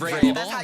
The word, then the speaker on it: Vrabel: Mike Vrabel, who's the coach of the I knew how to say it because, you know, New England Patriots.